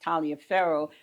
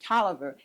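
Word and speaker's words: Taliaferro: spelled and you would think it would be pronounced Talia faroh pronounced it toer and there used to be a football player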